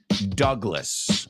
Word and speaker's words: Douglas: It Takes now the next one is the Douglas World Cruiser and you I know in Spanish you say Douglas but in English we pronounce that word Douglas okay and the Douglas World Cruiser now this